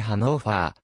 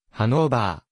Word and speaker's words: Hannover: た街である日本語ではドイツ語における一般的な発音に近いハノーファーまたはハノーファのほかハノーバーハノーバーと表記されることもある来年川沿いに位置